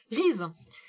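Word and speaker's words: Rease: alors, j'aime bien parce que elle a dit comment ça se prononçait, je pense que sinon je l'aurais mal prononcé. Riz. Riz, c'est le jeune homme qui s'écrit R-E-A-S-E, j'aime beaucoup ce prénom.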